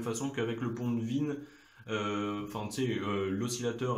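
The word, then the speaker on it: Wien: avec le pont de Vienne enfin de non ça se dit vin ça s'écrit W I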